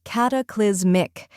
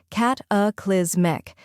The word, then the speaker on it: cataclysmic: in about then comes kiz which rhymes with quiz and should be pronounced sharply finally we have Mike which sounds like Mick in gimmick now let's put it all together cataclysmic try repeating after me